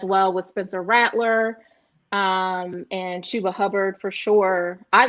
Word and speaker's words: Chuba: Chuba, it's spelled like Chubba, but Chuba Hubbard.